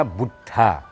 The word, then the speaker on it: Buddha: Ya, kata Buddha, B-U-D-D-H, ya, dibacanya Buddha. Ya. Tulisannya bahasa Sanskertanya Buddha. Jadi bunya pisah sendiri. Tapi kita bacanya Bud. D-nya ikut ke depan.